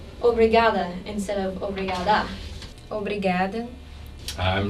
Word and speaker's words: obrigada: But let's focus just for a minute on the D of obrigada. The point of articulation for the D is exactly the same as for the T. Listen to how the Brazilian sister says obrigada. Obrigada. Can you tell the difference? I can. Her tongue is against the teeth.